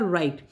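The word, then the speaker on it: write: अब next word है आपका राइट, इसमें आपका W साइलेंट है।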